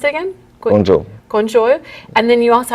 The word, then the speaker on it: Guangzhou: And your headquarters are in, how do you pronounce it again? Guangzhou.